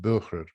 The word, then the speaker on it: Böhrer: And once I showed him the name of KT, he immediately told me it should be pronounced Böhrer, because of his knowledge of European languages.